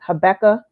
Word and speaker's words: Habakkuk: I know I always say the name wrong. What is it? Habakkuk.